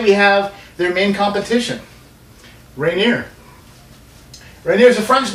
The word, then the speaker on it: Rainier: Wast state today we have their main competition rineer rer is a French name r I think would be the proper pronunciation but I don't think anybody calls it